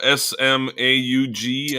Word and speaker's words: Smaug: apologize smog smoking Fox smug s-m-a-u-g I think is how it's pronounced or spelled Smaug small I'm confused okay